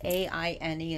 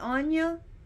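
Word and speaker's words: Áine: Yes, she's spelled A-I-N-E, and some people pronounce her Aine or Aine, but those are totally 100% incorrect. Aine. Aine is acceptable. Aine or Aine.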